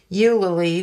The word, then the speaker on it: Eulalie: Poe and he is a poem called you Lily which is spelled EU a I know EU l al ie you lily and he talks about